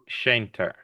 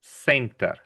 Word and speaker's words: center: It's not a shh sound. It's not an sh sound. We don't say shter. We say center.